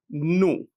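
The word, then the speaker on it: ν: It's denoted using a letter of the Greek alphabet which is pronounced as new.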